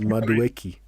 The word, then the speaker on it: Madueke: His name is Madueke.